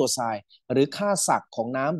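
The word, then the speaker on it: psi: ว่า water potential อ่า เรา จะ เรียก สัญลักษณ์ นี้ ว่า ตัว ไน นะ ครับ อ่าน ว่า ตัว ไซน หรือ ค่า ศักด์ ของ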